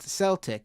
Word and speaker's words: Celtic: couple weeks ago on Mr regarding Celtic it's pronounced Celtic it's a soft sea I said that actually they corrected me on the either Matt or Matt Le or Emma corrected me and said it's probably Celtic I said Celtic at first uh and I